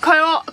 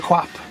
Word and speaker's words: co-op: ask in Ka here it's not a co-op quap or a co-op it's actually a coupe it's a quap it's a CP look